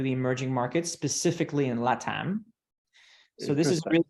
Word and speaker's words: Ledn: So, for example, a company that we invested out of our fund one, a company called LATAM, and it's spelled LEDN. It's the play on words on huddle and lending.